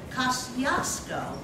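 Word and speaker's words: Kościuszko: His name was Thaddeus Kosciuszko, one of my favorite bridges in Brooklyn, going under construction now. Anyway, Kosciuszko, which is another way to pronounce his name, he was a rebel.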